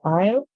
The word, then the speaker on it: aisle: a sound on the the S is silent and the L makes a sound and the E is also silent so the word here